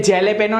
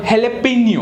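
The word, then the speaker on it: jalapeño: है उसे बोलते हैं जेले पेनो नहीं बोलते इ कॉल हेले पनियो व्हाट इज इट हेले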